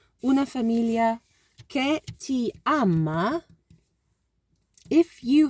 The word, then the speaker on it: famiglia: So a familia, it's kind of a li. It's almost like a li, but there's like an extra syllable somewhere there. Una famiglia che ti ama.